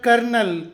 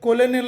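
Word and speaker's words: colonel: ಅನ್ನಬಾರದು ವ್ಯಾನ್ ಹ್ಯೂಸನ್ ಎರಡನೆಯದಾಗಿಸಿಓಎಲ್ಓಎನ್ಎಲ್ ಇದರ ಉಚ್ಚಾರ ಕರ್ನಲ್ ಕರ್ನಲ್ ಸೇನೆಯ ಒಂದು ಉನ್ನತ ಅಧಿಕಾರಿ ಹುದ್ದೆ ಕರ್ನಲ್ ಇದನ್ನು ನಾವು ಕೊಲನಿಲ್ ಅಥವಾ ಕಲೋನಿಲ್ ಅನ್ನಬಾರದು ಕರ್ನಲ್ ಮೂರನೇದು ನಿಮಗೆ ಗೊತ್ತಿರಬಹುದು ಇದು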